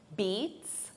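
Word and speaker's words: beets: Beats beats, it's the same pronunciation as the verb to beat, but the spelling is different.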